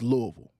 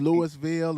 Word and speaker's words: Louisville: nine Kentucky at Louisville that's how you say it guys for everybody who's out of town it's Louisville it ain't Louisville aou Louisville Louisville right so this game is